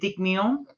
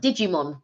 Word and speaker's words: Digimon: The Yellow Submarine uh is it dig meon digim dig you have to pronounce that Digimon Digimon sorry what's that